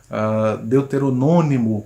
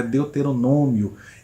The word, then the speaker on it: deuteronômio: Deuteronônimo, quando o correto é deuteronômio.